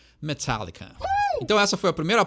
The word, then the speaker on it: Metallica: Então tem esse fechadinho no ar aí que a gente não fala, né? A gente fala Metallica, né? Mas quer pronunciar certo, quer impressionar os teus amigos, ou quer que todo mundo te ache um pomposo, um fresco, Metallica.